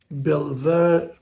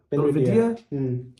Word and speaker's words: Belvedere: The king was in the Belver, how do you say it? I think Belvedere. Belvedere.